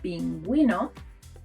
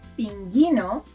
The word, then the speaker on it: pingüino: As a result, we get a smiley U, like in the words pingüino, or bilingüe. Bilingüe. Bilingual. If we skip the spell, these words will sound pinguino or bilingue, and we don't want that.